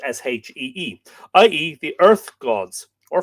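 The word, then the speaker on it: síde: The pagan Irish worshipped the Shei, Side, but pronounced Shee, i.e., the earth gods, or fairies, or elves.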